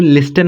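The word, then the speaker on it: listen: लिसन इसे क्या पढ़ोगे लिसन नहीं पढ़ोगे यहां पर टी साइलेंट हम इस्तेमाल करेंगे ठीक यहां पर टी साइलेंट होता है तो इसलिए हम लिसन पढ़ेंगे लिसन मतलब होता है आपका लिसन मतलब मतलब होता है सुनना।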